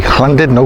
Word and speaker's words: Llandudno: Okay, Llandudno. Did I tell you how to pronounce that properly? Llandudno, remember to use an I.